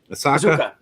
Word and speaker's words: Ahsoka: Ashley Eckstein from her universe, and the voice of Ashoka. Is that how you say it in Star Wars? Ahsoka. There you go.